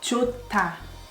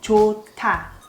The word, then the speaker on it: 좋다: 좋다. 조, H is silent, but H and D together becomes T sound. 좋다. 좋다.